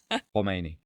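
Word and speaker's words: Khomeini: So comes from the back of the throat. Humeni.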